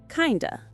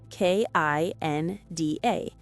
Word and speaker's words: kinda: Native speakers almost never say the full phrases clearly. Right. Kind of becomes kinda. Kinda. I'm kinda hungry.